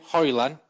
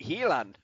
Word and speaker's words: Helan: what what are we how are we pronouncing his name haran no you're pronouncing it helan all right helan um